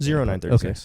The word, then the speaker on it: Zero 9:36: How do you pronounce that? 0936.